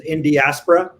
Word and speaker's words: Indiaspora: Rajiv, that's how we pronounce it, is Indiaspora.